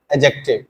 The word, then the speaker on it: adjective: बीच में जो डी आता है उसमें डी साइलेंट पढ़ जाता या कि इसको पढ़ना सही सही क्या होगा एडजेक्टिव ठीक है ए और जे के बीच में